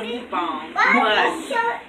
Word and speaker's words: mukbang: on my mom well the proper way to say is a mukbang we're country five well